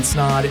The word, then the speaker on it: Snaadt: My name is Snaadt. It rhymes a lot, and you're listening and watching the Rhymes with Odd podcast.